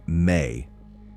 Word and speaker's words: ME: This is encoded in the Sumerian concept of the Me, pronounced May, the divine tablets or objects that contain the blueprints of civilization.